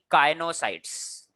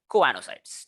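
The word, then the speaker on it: choanocytes: कोएनोसाइट्स, कोएनोसाइट्स, ठीक है, कोएनोसाइट्स, ठीक है, कोएनोसाइट्स, काइनोसाइट्स नहीं बच्चों, सॉरी, कोएनोसाइट्स बुलाएंगे इसको, ठीक है।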